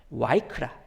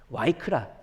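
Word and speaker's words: ויקרא: 구속 시리즈를 편집할 때는 히브리어 바브를 이렇게 V로 읽어요, 저희는. 그래서 마이크라라고 이제 번역을 하는데 실제 발음은 W 발음으로 주장하는 분들도 있고 V 발음이 더 가깝다고 주장하는 분들도 있고, 공부하신 곳이 뭐 미국이냐 아니면은 뭐 유럽이냐 아니면 뭐 이스라엘이냐 여기에 따라서 발음 체계가 조금씩 다르기는 한데 뭐 W 혹은 V로 보통 발음을 합니다.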